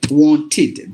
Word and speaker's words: wanted: but it should be you just have to replace the E with the this e sound with as in fit kit Miss that's what like wanted this is how you have to pronounce it so there are